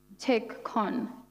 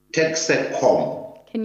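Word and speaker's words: Texecon: i heard it correctly you said take con did i get that right it's tech can you spell that for the chain o t-e-x-e-c-o-n now that particular name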